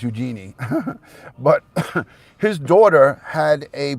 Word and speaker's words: Eugenie: of his two daughters princess Eugenia or Eugenie I think it's pronounced Eugenie but his daughter had